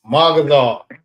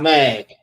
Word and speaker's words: Magazar: It's MAGAZAR, not Mag. And listen, I got a lot of brothers, well, not a lot, but like a few brothers, they say it like that.